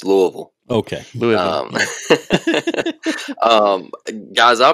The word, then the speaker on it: Louisville: in the day Blake are we at least pronouncing Louisville right or is it Louisville no it's Louisville okay Louisville um guys